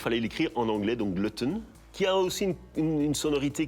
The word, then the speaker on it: Glutton: Alors, ma vision étant internationale, je me suis dit qu'il fallait l'écrire en anglais, donc glutton, qui a aussi une sonorité qui passe bien dans les langues latines.